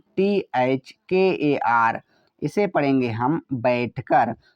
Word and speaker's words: बैठकर: तो B से तो होता है वा, AI से ए की मात्रा, TH से ठ लेते हैं, K से का, ए साइलेंट रहेगा, R का मतलब र, तो हुआ बैठकर।